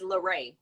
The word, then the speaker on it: Lurea: ask yeah this is funny like it's it's lorraine lorraine it's just like a dollar dana in the counsel everybody thinks it's just lorraine okay your instagram for your organization of business